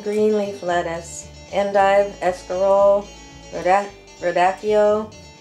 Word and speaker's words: radicchio: So romaine lettuce, red and green leaf lettuce, endive, escarole, radicchio. Some people pronounce it radicchio.